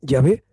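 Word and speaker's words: Yahvé: sabéis ya ve que son cuatro consonantes conforman un programa que nos pronunciamos como llame significa yo soy yo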